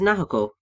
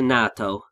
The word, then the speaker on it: Naoko: one person, and obviously for Jiro, that is Naoko. Yeah. I got the name wrong, didn't I? Yeah, you did. I think you called her Nato.